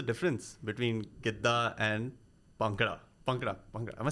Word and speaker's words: Bhangra: Bhangra.